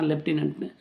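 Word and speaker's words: lieutenant: அந்த அந்த போஸ்ட் பேரு அது லெஃப்டினென்ட்ன்னுவாங்க அதுல வந்து f இருக்காது ஸ்பெல்லிங் ஆனா லெஃப்டினென்ட்ன்னு உச்சரிப்புல வரும் அது வேற விஷயம் ஆனா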